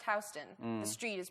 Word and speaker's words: Houston: same yeah but anyway in new york it's pronounced houston the street is pronounced houston and soho refers to an area that's south